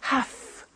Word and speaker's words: have to: i have to notice i don't say v i say f have half it becomes have to have the two becomes in pronunciation have to have to okay so i have